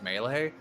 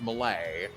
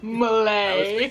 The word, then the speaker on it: Melee: But he pronounced Super Smash Brothers Melee as Smash Brothers Melee, which drove me up a goddamn wall. Malay.